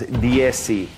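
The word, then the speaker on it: dieciséis: And so what you're doing here, it comes out as DSC, DSC. So the die, CI helps us spell it, but you pronounce it DSC.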